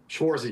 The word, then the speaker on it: Schwartz: Adam, uh, I hope I pronounced your last name correctly. Schwarzy.